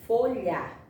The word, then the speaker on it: folha: Folha. Não estou escutando esse som do H. Eu escuto o som do lhá, lhá.